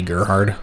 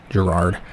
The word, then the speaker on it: Gerard: it that, but yeah, in German this might be Gerhard, I don't know, but yeah, keep on pronouncing it Gerard.